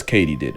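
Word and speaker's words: katydid: where it turns out it's Katie did as in did Katie do it yes Katie did I'm gonna mispronounce it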